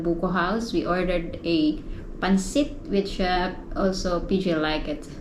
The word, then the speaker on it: pancit: Yes, you like pancit. When we were in Minsaya, we ate in GL Buko House. We ordered a pancit, which also PJ liked it.